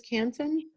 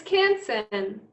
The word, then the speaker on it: Canson: of the paper again did you say it was canton it's canson it's um let me look